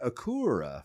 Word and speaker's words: Acura: They said the British say Jaguar. Jaguar. Yeah, I can't do that. And Jackie Stewart also says Acura for Acura.